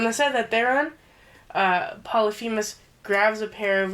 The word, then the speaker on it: Polyphemus: We had no idea how to fucking pronounce it because I didn't remember it. I didn't have it written down anywhere. But it's Polyphemus.